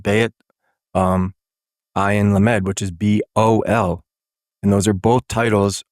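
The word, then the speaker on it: בעל: And it's spelled Bayat Ayin Lamed, which is Bol.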